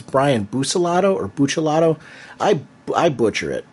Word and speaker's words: Buccellato: Yeah, and I would say Buccellato, just because a lot of times I think Boos is more of like an American pronunciation. So if you're going to go old school, it would be, Booch. But that's just my 2 cents.